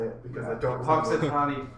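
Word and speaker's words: Punxsutawney: Puxatawny Phil. And I said Puxawani Phil. Puxawani? Where was the W, Titan?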